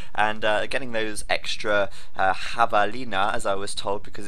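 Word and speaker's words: javelina: uh getting those extra Havalina as I was told because it's actually Spanish apparently and it should be pronounced with an a not a javalin like a an Englishman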